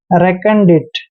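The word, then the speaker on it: recondite: दोस्तों आर का उच्चारण रे करते हैं और ई को ए की मात्रा पढ़ते हैं। CO का उच्चारण यहाँ पर कै करेंगे और एन को आधा न पढ़ेंगे। डी का उच्चारण डे करेंगे और आई को ई की मात्रा पढ़ते हैं, डी और टी को हमने टे पढ़ना है।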